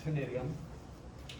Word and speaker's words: ctenidium: Each is called a ctenidium. The C is not pronounced.